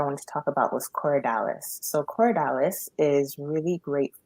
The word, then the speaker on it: Corydalis: Cory, so Corey, and then Dallas, Dalis, all one word. Okay. So Coridalis, it's a whole species of one herb, but they pretty much all have the same action.